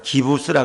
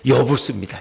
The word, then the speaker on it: 여부스: 제가 아까 기부스라 그랬는데 여부스입니다. 제가 잘못 발음했죠.